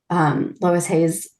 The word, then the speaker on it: Louise Hay: Louise Hayes, I always say Lois. Louise Hayes. Louise Hay, because my grandmother's name was Lois. And it was spelled the same way. So that's why I always say it.